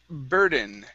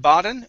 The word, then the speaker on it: burden: Next up is burden. Okay, here instead of baden, ba, it's bur. Pronounce that ur sound. Burden. Burden. Mm-hmm.